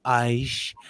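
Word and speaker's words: X Æ A-Xii: He even has that symbol, the A and the E. He goes, it's pronounced Aish, and then it's like the guy was listening to him and say, "You're nuts."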